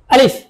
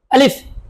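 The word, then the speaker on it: ا: আলিফ, আমার সাথে বলুন আলিফ। আরেকবার বলুন আলিফ, আবার বলুন আলিফ। আলিফ উচ্চারণটা সবসময় শক্ত করে আদায় করতে হবে।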